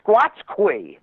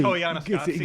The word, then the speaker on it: Koyaanisqatsi: And he goes, it's like calling a Squatchquee or something. And David Letterman corrected that he got the name wrong. Oh, it was so good. Oh, was that that movie? That movie? Koyaanisqatsi, yeah.